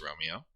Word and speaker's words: Romeo: Tony Romeo. That's how you pronounce it. It's Romeo.